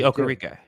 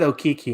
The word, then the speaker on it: Okereke: Bobby Okereke. Yes. So did you forget his name, or did you not want to have to pronounce his name? I almost said Okiki, and I was like, no, that's wrong.